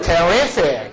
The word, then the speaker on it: terrific: You look terrific. You look terrific. You look terrific. Terrific. 이 발음 잘해야 돼.